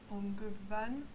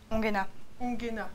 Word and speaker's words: Ongena: C'est Tom Ongevan, il me semble, mais je ne suis pas sûre exactement de le prononcer correctement. Ongena, pardon. Voilà. Tom Ongena.